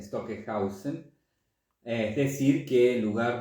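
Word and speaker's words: Stockhausen: veces una pizca de Stockenhaus, vamos a pronunciar bien, Stockenhausen, es decir, que en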